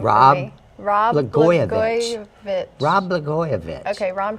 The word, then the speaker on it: Blagojevich: Rob Blagojevich. Blagojevich. Rob Blagojevich. Okay, Ron pronounced it.